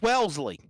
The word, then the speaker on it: Wellesley: It's Wellesley. Wellesley, yes. So it's like Wesley. It's like my damn name. Was it? It's like Wellesley, Massachusetts. Yes.